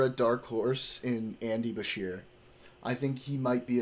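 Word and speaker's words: Beshear: I've said I've said watch for a dark horse in Andy Basher.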